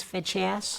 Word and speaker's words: feces: It was feches. That's the medical word for feces. Feches. Oh, I see. It's a hard C.